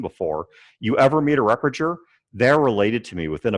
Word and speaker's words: Repperger: Repperger. Repperger. Okay. Repperger. Repperger. All right, I got you. Soft G, and the second two E's are pronounced like U's.